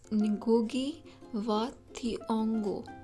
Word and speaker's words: Ngũgĩ wa Thiong'o: of this text also I would like to correct my pronunciation about the author's name it's nugi vongo I think I have